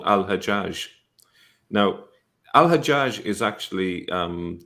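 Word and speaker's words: الحجاج: it a different way hagag is the Jewish version of that and it's still pronounced that way agag in some Arab countries such as Egypt but what does hagag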